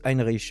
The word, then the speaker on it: Heinrich: Et donc le Henri XIII, ça se prononce Heinrich, donc voilà, ça paraît un petit peu plus logique finalement.